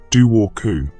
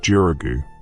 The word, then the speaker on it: Dobhar-chú: The pronunciation flows like water itself. Du woku, though you'll hear variations depending on which corner of Ireland you find yourself in. Some pronounce it Jurugu, others say Doro or Doatu.